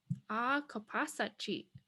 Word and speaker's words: Akapasachi: So ah, like father, ah, ka, pas, sa, chi. Akapasachi. Akapasachi.